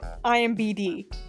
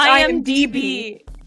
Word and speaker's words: IMDb: Wait, I said IMBD. Oh, it's IMDb.